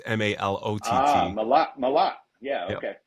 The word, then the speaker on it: Malot: My last name is French, but it's Malot. It's M A L O T.